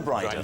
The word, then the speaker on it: Bryden: Rhymes with Dryden. Yeah, Dryden. Stay Dryden in a Bryden. There you go. Dryden? Dried on. Yeah. With a Bryden. With a Bryden, you'll be dried on.